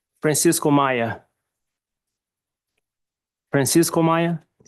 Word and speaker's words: Maia: State your name and spell it for the record. Francisco Maya.